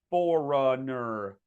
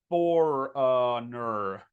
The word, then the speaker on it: foreigner: A lot of people get tripped up here because they say foreigner or something like that, or foreigner along those lines. Okay. So the way you pronounce this word is like that. For, uh, when you're like lost, like, I don't know, for, ner, foreigner, foreigner. Okay.